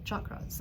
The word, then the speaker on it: chakra: So we'll talk about chakras in a minute, and I always mispronounce it. It's chakra, not chakra.